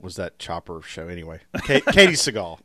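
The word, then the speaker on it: Katey Sagal: Katie Seagal. Okay. That's the way she pronounces her name.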